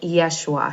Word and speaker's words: Yeshua: time of Jesus um Jesus would have been pronounced something like Yeshua so you can see